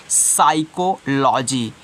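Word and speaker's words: psychology: note down कर ले साइकोलॉजी यानी कि प का उच्चारण नहीं करोगे आगे देखते हैं अब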